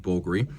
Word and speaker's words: Bulgari: Now, it's spelled with a V to Romanize it, but it is pronounced Bulgari.